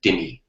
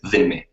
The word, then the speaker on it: dhimmi: of running a society, you have what are called dhimme, or in English we usually pronounce it dhimmi, but really, as you know, the proper Arabic is dhimme.